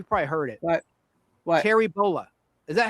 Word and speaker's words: Bollea: Terry Bollea. Is that how you pronounce his real last name?